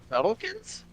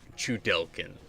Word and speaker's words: Chudelkin: Shuttlekins? What? Shuttlekins? I distinctly remember it being pronounced like Chudelkin.